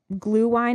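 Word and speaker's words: Glühwein: You can get some of that glue wine, is how you say it.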